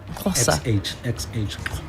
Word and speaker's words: Xhosa: So for X, you pronounce it with a click sound, right?